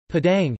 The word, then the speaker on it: Padang: Padang, Indonesian pronunciation, Pada Jawi, Vod is the capital of